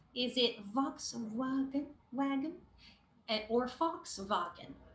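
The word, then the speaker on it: Volkswagen: surprised it's letter b it's fox wagon all right that's how you pronounce this brand okay again it is a german word and fox means people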